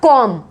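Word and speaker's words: comb: कॉम्ब नहीं आवाज आती है, बी इसमें साइलेंट है, इसको बोला जाएगा कॉम्ब।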